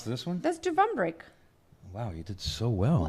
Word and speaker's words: Dubrovnik: You want to try to pronounce this one? That's Dubrovnik.